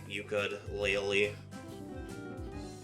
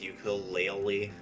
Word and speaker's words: Yooka-Laylee: Like, she pronounced the name of this game as Yooka-Laylee, as though the Y was an I.